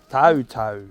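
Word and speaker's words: Tau: And it's important that his name's spelled correctly because it's the Māori version of the name, which is spelled T-A-U, Toto.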